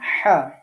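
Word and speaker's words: ح: করার সময় ধাক্কা দিতে হবে। আর আইন হা এটা যখন উচ্চারণ করব তখন আমাদেরকে চেপে ধরতে হবে। গলাটা একটু চেপে ধরে উচ্চারণ করতে হবে।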